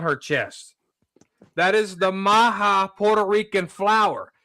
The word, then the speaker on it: maga: That is the Maha Puerto Rican flower. It's spelled M A G A. A lot of people call that MAGA, but he did the Puerto Rican flower called the Maha.